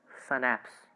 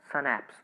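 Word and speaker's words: schnapps: हम इसे क्या प्रोनाउंस करेंगे, सनैप्स। एक बार मेरे साथ कहिए, सनैप्स।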